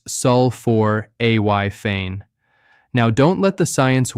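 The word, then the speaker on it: sulforaphane: That's spelled s u l f o r a p h a n e and it's pronounced sulfor a y fane.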